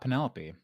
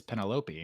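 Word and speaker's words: Penélope: Just like it's not Penelope. It's Penelope.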